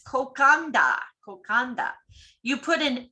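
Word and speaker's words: kokoda: Any word with a D has an unwritten N in front of it. Nadi is pronounced Nandi, and the delightful cold marinated seafood dish kokada is kokanda.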